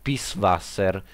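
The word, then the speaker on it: Pißwasser: un po di tedesco c'è scritto peace wasser perché quella specie di b si legge con una doppia s questo nome questo logo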